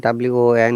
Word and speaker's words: won: house remember this one won is one similar spelling yes similar it's not spelling similar pronunciation with one o any